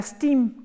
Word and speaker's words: STEAM: Cuando tú lo pronuncias en inglés suena STEAM, como vapor.